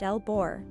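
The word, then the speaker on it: LBOR: Load break operator, pronounced L-BOR, provides a means for qualified persons to electrically isolate the primary coil from the medium voltage source.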